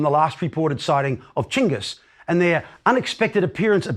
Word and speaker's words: Chinggis: Chinggis, by the way, is the preferred way of pronouncing the great Khan's name by Mongol specialists today. It is a more accurate rendering of his written name than Genghis.